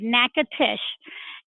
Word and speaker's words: Natchitoches: the spelling bees hey y'all versus Idol but nekkid ish give everybody the lowdown on em did I pronounce it correctly number one you did you did good knack at ish and it is spelled in a t CH i t o